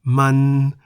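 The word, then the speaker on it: มัน: Words containing no-nu are na in the middle tone, meaning rice farm, and man, also in the middle tone, meaning it.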